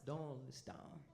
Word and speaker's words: Doylestown: What's the pronunciation? Doylestown.